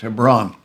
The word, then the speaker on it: Hebron: looks like Hebron to us but it's it's pronounced Hebron and so the rest of the Book of